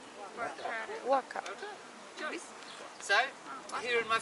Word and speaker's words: Whaka: Waka. Right? We don't actually pronounce it like Waka. the PH because it sounds like that we're swearing. Alright? So we drop the H and we say waka.